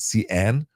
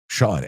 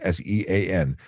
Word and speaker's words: Sean: I'm tired of being called Cian. Sean, Sean.